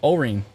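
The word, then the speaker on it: Orene: did you know that I was trying to pronounce it that's amazing uh Irene but O ring thank you Irene thank you Charlene not singing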